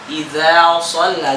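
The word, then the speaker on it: إذا صلى: Ya, ternyata za-nya melewat suaranya. Melewat ya? Nada lewong jadi. Dia za gara-gara ketemu sotaba jadi idza shalla gitu.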